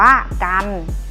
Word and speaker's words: จันทร์: กัน นะ คะ ก็ รอ หัน อ่าน ว่า จันทร์ นะ คะ พอ รอ หัน อ่าน ว่า พัน